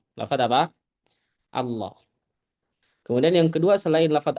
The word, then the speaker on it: Allah: Ya, contoh yang diidgamkan ini ya yang sering kita temui tentu yang pertama adalah lafaz Allah. Lafaz apa? Allah. Kemudian yang kedua, selain lafaz Allah ya Allahumma sama aja